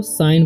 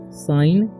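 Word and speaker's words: sign: पढ़ेंगे when when और यहां पर लिखा हुआ है एस आई जी एन तो साइन पढ़ेंगे ठीक है जी का उचार नहीं होगा साइन ठीक है और इसे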